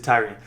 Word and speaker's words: Tyrion: Tyrion Ingram, Tyrion, I forgot that he pronounces it Tyrion.